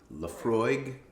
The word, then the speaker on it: Laphroaig: i can't pronounce it la frog la frog laphroaig what'd you say laphroaig she says laphroaig like it's very obvious from the spelling but uh in my opinion it is very confusing uh uh and it